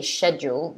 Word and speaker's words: schedule: more than the first i personally normally say the first one i say schedule that's just because i find it um i don't know i just find it easier to say somehow so i normally say that but a lot of people say both doesn't really matter which one you're saying taehyung says second one